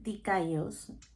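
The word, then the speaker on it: δίκαιος: Sabadía, que significa recto íntegro aprobado por Dios y significado bíblico en griego que se pronuncia dicos y significa justificado, aceptado, declarado justo.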